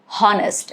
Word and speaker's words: honest: Rule number two is it is silent at the beginning of words often when succeeded by letter O. For example, our or honest. You do not say it as honest. It is honest.